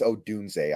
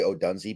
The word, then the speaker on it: Odunze: Oh, by the way, it's Odunze. I always say Odunze because that's how it's spelled, but it's Odunze.